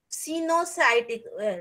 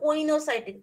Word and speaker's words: coenocytic: Cenocytic, this is not coenocytic, this is pronounced as cenocytic.